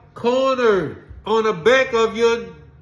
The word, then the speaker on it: Corner: corner corner is is pronounced two syllables corner corner corner like a street corner Conor walk up son kind